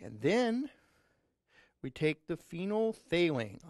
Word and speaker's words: phenolphthalein: then we take the phenolphthalein say that with me together phenol failing that's one of the things you need to learn in chemistry phenol for that we know phenol failing four syllables phenolphthalein okay you take about